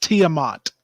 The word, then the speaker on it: Tiamat: we have uh tiamat i think that's what you call that t yeah pronounced tiamat yes kimont okay uh a